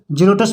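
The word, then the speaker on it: xerotes: है एक्स ई आर ओ टी एस रोटस जीरोटस मीस होता है रूखापन इसी तरह से जि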